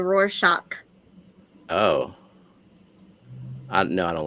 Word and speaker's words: Rorschach: always said it wrong I say Rorschach wait what is do you say it's supposed to be a roar shock oh no I don't